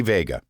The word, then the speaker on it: Veiga: excited to have as a guest today Vega and am I pronouncing your last name correctly yes you